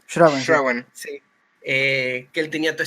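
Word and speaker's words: Schrauwen: Ayúdenme con la pronunciación. Schrauen.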